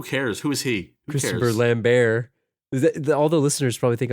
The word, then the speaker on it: Lambert: It's Christopher Lambert. Lambert? The T is silent.